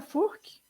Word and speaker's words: Furchi: Estou aqui com a minha querida Camila, se pronuncia Furk? Furk, isso mesmo.